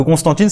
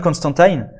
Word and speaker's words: Constantine: Alors que Constantine, c'est la prononciation française, mais normalement il s'appelle John Constantine.